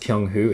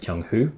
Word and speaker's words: Kyunghwo: It's pronounced Kyunghwo, it's spelt Kyunghwo, but it's pronounced Kyunghwo. However, a lot of you